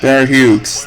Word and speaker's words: Hughes: Reader, you're also in on Bear Hughes. I am, absolutely. Bear Hughes. That's how they say it.